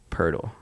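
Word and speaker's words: Poeltl: look like purdle well it's because it's yakub pertl oh even though it's spelled like poetal yeah i was gonna say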